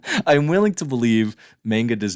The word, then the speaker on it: manga: Dave, manga rhymes with cowabunga, not Jenga or Topanga.